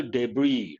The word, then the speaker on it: debris: the same thing the seed coverings and other debris debris is an important word as is silent separated from the seed in thrashing threshing